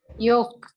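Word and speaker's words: yolk: இதை இது அதே மாதிரிதான் இங்க L walk walk யோக் யோக் யோக் மஞ்ச கரு இருக்கு இல்லைங்களா சோ அது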